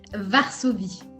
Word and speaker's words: Varsovie: Varsovie, although it's spelled with a V and not a W.